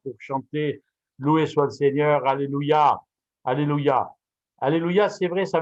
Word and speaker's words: alléluia: cours d'hébreu les rapides il vaut mieux dire alléluia que alléluia alléluia c'est la véritable prononciation parce qu'il y a